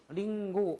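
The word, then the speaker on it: りんご: 그래서 응이라고 하는 것은 카행이나 가행 앞에 가행 앞에 응이 올 경우에는 요것이 거의 응 발음으로 가깝게 발음난다는 거죠. 그래서까 강코 옹각 링고 이와 같이 응에 가깝게 발음이 난다는 겁니다.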